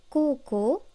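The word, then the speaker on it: こうこう: Par exemple, koko, lycée, se dit avec deux O allongés.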